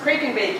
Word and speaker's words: Kraken Bake: It is pronounced Kraken Bake, even though the creature is a kraken.